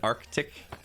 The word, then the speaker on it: arctic: watch naked and scared when i enunciated arctic arctic man was blown away he's like nobody enunciates that like you know we're